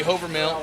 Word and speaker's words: Hovermill: uh brady over mail i was pronouncing it wrong the whole time in brady i'm very very sorry but i was corrected brady hovermill in the main i'm sure